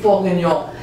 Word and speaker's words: bourguignon: Beef bourguignon.